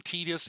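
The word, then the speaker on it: Tidus: 10 I am team Titus all the way. Uh, anyone who calls him tedious, even if that's the official official pronunciation, screw you. I'm not It is Titus 100%.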